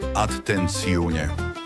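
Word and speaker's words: attenzione: Atenci, pozor, vyslovuje sa atenciune.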